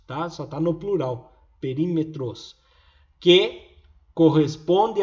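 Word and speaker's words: περίμετρος: Perímetros. Desse jeito. Perímetros. Então escreve tudo estranho aqui, mas a pronúncia é perímetros.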